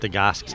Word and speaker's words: Stagoski: I'm talking with Stagoski. Did I get your name correct? Stagoski. Stagoski? Stagoski. Spell that for me.